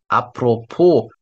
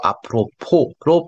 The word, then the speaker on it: apropos: Apropos, S가 여기서 발음이 안 됩니다. Apropos는 안 하고, Apropos로 발음하세요. Also, 식사.